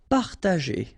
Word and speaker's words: Partager: Partager. Okay, parta, and then here G and E after. Well, R in that case, it's the sound E, so you pronounce it J.